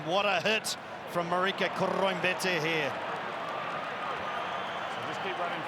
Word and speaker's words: Koroibete: Test match rugby, Marika Koroibete is the way it used to go. Now Marika, on his own say-so, wants the surname pronounced with that Fijian touch, Andrew Mertens, and thusly it is Marika Koroibete.